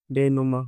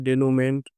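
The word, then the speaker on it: dénouement: हैं चौथा है डेनुमा डेनुमा बहुत लोग इसको गलत पढ़ेंगे कि इसको पढ़ेंगे डेनुममेंट और पुष्प अलग-अलग लेकिन इसका सही प्रोनाउंसिएशन उत्तर है डेनुमा इसका मतलब होता है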